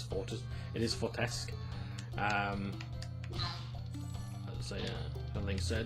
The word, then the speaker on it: Fortesque: The setting, the characters, the hero, Sir Daniel Fortesque, or I think it's actually pronounced Fortescue in the games. But actually, I think linguistically speaking, it is Fortesque.